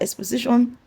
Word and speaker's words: exposition: This TION, you can see that exposition ends with TION. So the stress is going to be on the SI, because exposition ends with ION.